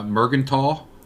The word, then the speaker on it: Merkenthal: last name uh mergental okay how do you pronounce your last name merkenthal i mean it's not that you're wrong aaron uh because because a